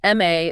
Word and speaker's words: MA: MA is pronounced starting with an E vowel sound, so it requires an, option B.